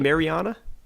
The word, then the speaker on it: Mariana Trench: Wait, don't you mean Mariana? Well, yeah. Mariana Trench. Wrecked. Well, Wrecked. Never mind. I'm stupid. It's spelled the same as marinara, though. No, it isn't. Mariana. Marinara. Oh.